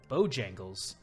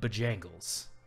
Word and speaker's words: Bojangles: there are plenty of businesses that are not pronounced how they would in just natural language like bojangles in according to like english rules i'm not an english major anything would be bajangles mostly emphasize the second syllable in a word